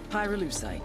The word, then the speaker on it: Pyrolucite: Pyrolucite. Key syllable pyro, by the way, is the they mine in Via Verde Province to turn cocoa leaves into highquality cocaine.